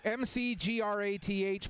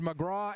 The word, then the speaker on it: McGrath: I've seen the name MCGRATH pronounced McGraw and McGrath.